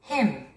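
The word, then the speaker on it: hymn: Him. Him. him, him, him. 찬송가 이런 뜻입니다. 스트레스는 맨 앞에 있고요. 맨 마지막에 있는 N자라는 철자는 묵음입니다. 발음하면 안 됩니다.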